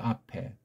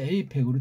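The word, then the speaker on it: APEC: 누가 원조냐 이런 거 따지기 앞서서 아펙이 변질돼서 에이펙으로 됐다는 거지요. 에이펙은 변질한 소리예요. 아니 A라는 그 알파벳 소리가 이게 아에 해당하는 발음이나죠. 어떻게 이게 A자가 된답니까? 자음도 없는데 무슨 얼어 죽을 소리가 나요. 아팩이라고 해야 돼요.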